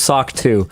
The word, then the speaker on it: SOC 2: Apparently, SOC2 is pronounced SOCK 2.